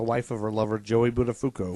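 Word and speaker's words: Buttafuoco: of her lover Joey budafuko that's right pronounced baduku badafuko badafuko sorry not baduku Mary Joe badafuko in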